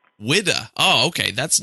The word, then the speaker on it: Whydah: need to know is what is the correct pronunciation of the ship's name widda widda oh okay that's not